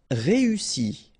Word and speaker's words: réussi: Réussi. Okay, first you get this E, then U and double S, so really strong S and E.